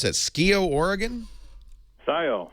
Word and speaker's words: Scio: have changed Perry in uh how do you pronounce that SK Oregon Scio Scio s c oh hi Perry howdy welcome um